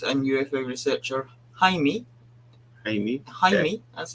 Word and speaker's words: Jaime: speeded by journalist and UFO researcher Jaime Jaime Jaime that's how you say it who testified under